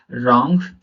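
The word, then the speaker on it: wrong: आर के पहले W silent होता है, आर के पहले अगर डब्ल्यू आ जाए तो वो साइलेंट रहेगा, वो शब्द साइलेंट रहेगा। कैसे रहेगा? रॉन्ग, right, rap, wrapper, wrist.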